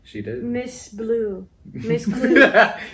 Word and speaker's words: Klugh: And her name literally is Miss Clue. No, Yes, I know. I was but it's thinking spelled- of Blue's Clue. It's spelled Klugh, ladies and gentlemen. Clue.